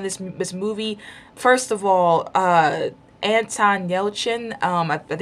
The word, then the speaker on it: Anton Yelchin: First of all, Anton Yelchin, I think it's how he's pronounced his name, Chekhov, he died.